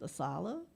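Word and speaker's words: ASALH: of African-American life and history which is pronounced asala and he has um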